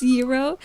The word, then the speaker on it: gyro: It's Euro. Okay. Euro. Okay. Euro. It's Euro. Now, I'm going to trust this one. I'm going to trust this pronunciation.